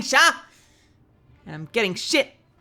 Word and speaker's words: Shar: of sh of sh cuz I say sha because every else says sha in the game cuz they have accents and I'm going to keep saying sha and I'm getting [